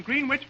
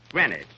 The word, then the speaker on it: Greenwich: all day yesterday in green witch Billy Kenny that's not green witch you see here in New York it's pronounced Greenwich grenwich see who did you